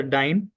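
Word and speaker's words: dine: सो for example हम क्या करते हैं, जैसा डाइन plus I एन जी, सो हम क्या करेंगे? डाइन, so this E is silent here, सो इसका स्पेलिंग क्या होता है?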